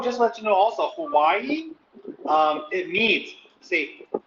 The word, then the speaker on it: Hawaii: let you know also hawaii um it means see the locals here pronounce the w with a v so it's with a v sound huh okay and the